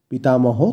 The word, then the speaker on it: পিতামহঃ: আমরা জানি পিতামহ তার সাথে বিসর্গ আছে তাই হ যোগ হবে পিতামহঃ।